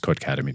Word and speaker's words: Codecademy: No, it's pronounced Codecademy too.